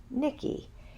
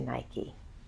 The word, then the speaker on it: Nike: of Nike and actually it is pronounced Nikki that is how the Greeks pronounced her name we changed it to Nike the myth goes that